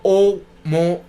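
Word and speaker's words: ʻOumuamua: Esta anomalía especial se llama Oumuamua, pronunciado como O-Mo-U-Mo-U, que en hawaiano es mensajero de lejos que llega primero.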